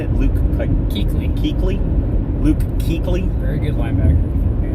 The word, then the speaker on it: Kuechly: Luke Kuechly.